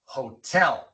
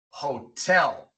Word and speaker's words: hotel: Si viene entre dos vocales, pero al principio de una sílaba acentuada, entonces se pronuncia normal. como en la palabra hotel. Hotel.